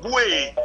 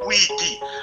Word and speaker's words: Bwete: C'est-à-dire que vous avez le Bwekaye que l'on prononce dans le corps de garde lorsque vous trouvez des initiés au rite Bwete et non Bwiti, parce que les Simba ne connaissent pas le Bwiti, ils connaissent le Bwete qui dérive du verbe Mobwetaro.